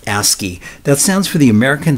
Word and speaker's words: ASCII: Now, computers use something called ASCII, which is pronounced ASCII.